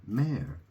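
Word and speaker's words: mère: say mother in French you say may right May and uh dad is pear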